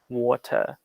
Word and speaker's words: water: in the american way water the a doesn't make a wa an a sound it makes an o sound there and then like we